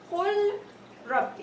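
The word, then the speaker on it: قُل رَبِّ: So the lam merged into the ra completely. I don't feel there is lam when I say Qul Rabbi. The lam is gone, and the ra will be pronounced with shadda. So, and I will pronounce it as Qul Rabbi. Okay? Qul Rabbi, as there is no lam.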